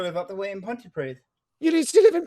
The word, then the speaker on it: Pontypridd: Yeah, I used to live up the way in Pontypridd.